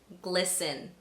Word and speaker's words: glisten: Also, when a word ends in sten, it would be right for you to assume that the T is silent. Let me give you some examples. Glisten, fasten, christen, moisten.